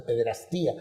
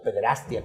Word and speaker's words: pederastia: mayoría de casos de pederastía o pederastia como algunos la pronuncian están dándose intentos religiosos